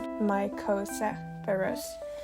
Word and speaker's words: Mycocepurus: So, if you couldn't tell, the cozy part in Mycocepurus is my nickname. And since no one really wants to pronounce it cosa, like you would Mycocepurus, everyone just calls me